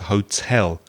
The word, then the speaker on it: hotel: pronunciation of the word hotel the stress is on the second syllable not the first that's a common mistake